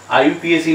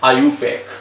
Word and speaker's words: IUPAC: आईयूपीएसी नाम की कोई चीज है, इट इज ऑलवेज, मैंने पहले भी बोला था, इट is always pronounce as आयुपैक, नॉट आईयूपीएसी। ठीक है, तो फर्स्ट रूल